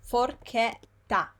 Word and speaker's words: forchetta: I just told you before that CHE, we pronounce it as ke, right? Here is a word with ke. Forche, I'll write it capital so you can see properly. Forchetta, forchetta.